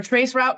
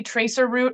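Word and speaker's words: traceroute: or trace route con I never could figure out how to say trace route Trace rout he says it's okay as long as you don't say Tracer route or Tracer route um where you like double say the r but um so so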